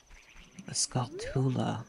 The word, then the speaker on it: Skulltula: Where it's a Skulltula.